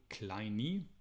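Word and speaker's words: Kleene: So 70 years ago, Stephen Cole Kleine, it's pronounced, this guy introduced regular expressions for the very first time.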